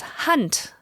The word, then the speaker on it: hand: this case means that the D turns into a t so hand is actually pronounced hunt in Dutch as is the case